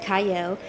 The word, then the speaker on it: Qiayel: I'm your host, Qiayel. Howell starts with a Q, but it is pronounced Qiayel.